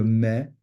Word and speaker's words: mets: It changes it from a silent T, as in je mets, tu mets, il met, to a very, very hard T.